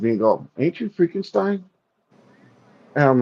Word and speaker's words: Freakenstein: And like so many people get the name wrong. You know how many times I've heard people say Frankenstein, Frankenstein, Frankenstein? It's like it's Freakenstein, Freakenstein.